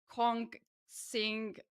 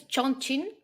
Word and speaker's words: Chongqing: I'm gonna try to pronounce the name of the city. Ko- Kong Sing. Ah, I think it's Chongqing.